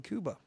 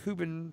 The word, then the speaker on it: Cuba: Pepe Casillas, a 78-year-old Cuban farmer, and by the way, I am saying Cuba because that's how you're supposed to pronounce it. Cuba, not Cuba.